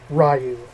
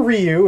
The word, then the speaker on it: Ryu: The man, the myth, the legend, Hadouken Ryu. Or Ryu, if you want to say it proper.